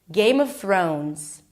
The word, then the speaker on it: Game of Thrones: Th So you can also prolong it for a little bit until you make sure that you pronounce the r sound correctly. Throw. O as in go. Make sure you add a w at the end. Throne. and add a Z. Thrones.